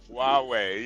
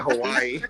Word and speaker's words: Huawei: Huawei, yeah. You talking about that? You said Hawaii. You said Hawaii, Dewale.